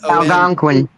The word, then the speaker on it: Algonquian: on the Wendigo legend of the, I can't pronounce this, Danny Staten, Algonquian peoples. Algon. Algonquin.